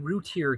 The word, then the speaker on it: Routier: Well, hello and welcome to Critical Weight Theory, and I'm going to examine the Darlie Routier case. And yes, that is apparently how it is pronounced.